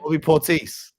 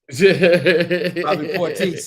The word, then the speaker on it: Bobby Portis: Bobby Portis. Bobby Portis. Yeah. A little French. It's a little French on it.